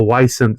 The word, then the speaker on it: wisent: And I believe they pronounce it a vicent or a wisent, so you can kind of hear that it sounds like the bison.